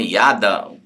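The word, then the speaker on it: ידע: Ou seja, é interessante que essa palavra no hebraico, conhecer, né, ela é a palavra yadá, né? Yada, depende conforme a pronúncia que você queira falar.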